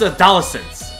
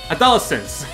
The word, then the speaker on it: adolescence: think no this is a dollar since i totally mispronounced it and then i correct myself adolescence not of those scenes